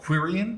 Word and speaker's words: qryn: There is also a tool called Queryn, which is spelled QRYN, and that would then